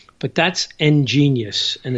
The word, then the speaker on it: Ngenius: That's a little bit harder to spell, but that's Ngenius, and it's spelled N and then gene, like gene splicing, Geneys, Ngenius, and not that I'm ingenious or anything, but I used to have this old mechanical book.